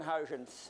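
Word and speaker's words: Huygens: century after Newton and that's Christian hin and trust me that's the proper Dutch pronunciation I know so um he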